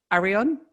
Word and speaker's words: Areon: i don't know how to say this properly ariane yes is that right yes yes the liberian